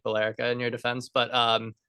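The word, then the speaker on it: Billerica: how you say it blera no that's not even remotely close it's I thought we could get it right it's b r but it it has felt like belerica in your defense but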